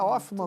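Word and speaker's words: Hoffmann: Ela é um sobrenome alemão, né? Por isso que eu diria. Ah, e se a gente quiser brasileirar, o H também é mudo, né? Ofman mesmo.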